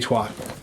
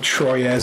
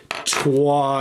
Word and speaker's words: Troyes: So it's named after a place in France, Trois, and it's like the number 3 except spelled differently.